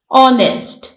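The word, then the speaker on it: honest: इसमें ई साइलेंट है ऑनेस्ट इसमें एच साइलेंट है ऑटम इसमें एन साइलेंट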